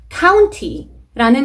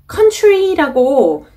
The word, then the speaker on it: county: County라는 단어가 나왔는데 이 단어는 생김새 보자마자 country라고 실수로 잘못 발음하시는 분들이 꽤나 많아요. 그래서 조심하셔야 됩니다. Country, county. 당연히 다른 단어이죠.